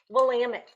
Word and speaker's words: Willamette: Willamette.